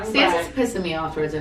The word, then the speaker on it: Sansa: Stanza. Sansa. What? Sansa. It's actually Sansa.